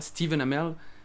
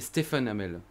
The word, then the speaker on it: Stephen Amell: uns mais aussi remarque fait remarquer qu'en dit pas steven amer mais stephen amell sauf quand américain c'est